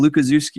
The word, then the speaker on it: Lucazi: say my name lucazi and I always tell people it's Zoo like where the animals are and so um that's